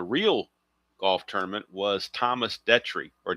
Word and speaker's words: Detry: Now, the winner on the real golf tournament was Thomas Detry or Dietry is how it's actually pronounced.